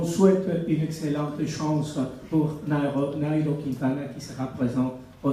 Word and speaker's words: Nairo: être à côté de Nairo Quintana. Et vous qui prononcez Nero, alors vous diriez Nairo Quintana.